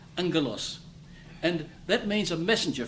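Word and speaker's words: ἄγγελος: Anglos. G double g in Greek is pronounced ing, like that. Anglos.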